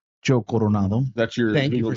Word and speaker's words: Coronado: Roll your R like Coronado. Coronado.